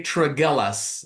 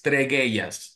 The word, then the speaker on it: Tregellas: The way that I would pronounce his last name is Tregellas. But many people will say Tregellas, right? I think that's how a lot of people pronounce it. But if we're going to say it the right way, it's Tregellas.